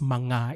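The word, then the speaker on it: mga: So the original title is Manga. It's a three-letter word. It's an article in the Filipino language. If it's called Manga, two syllables but three letters.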